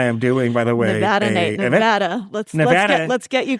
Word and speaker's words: Nevada: Okay, so according to the Nevada Independent, I am doing, by the way, Nevada. Let's get you pronouncing it correctly.